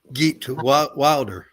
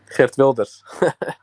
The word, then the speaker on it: Geert Wilders: What do you think of Geert Wilder? Geert Wilders.